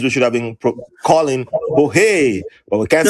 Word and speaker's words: Jorge: When that explanation was given to me that it's Jorge, but who gonna be pronouncing Jorge?